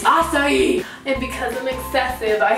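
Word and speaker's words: açaí: It's not a kai, it's not acai, it's acai.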